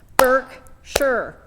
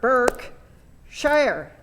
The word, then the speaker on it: Berkshire: word that you can if you listen to how i said it there's two syllables in it you can sound it you can divide it into two sounds burke sure and it helps sometimes we when i used to teach this before i i used to have people clap how many sounds are in there there's a first part burke shire and actually that i'm